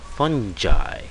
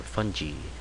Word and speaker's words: fungi: it I believe anyway it is fungi or fungi or however you want to pronounce this word funy fun guy all right so we